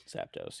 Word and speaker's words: Zapdos: someone was trying to obtain a is it Zapdos? Is that how you say it? Zapdos, yep.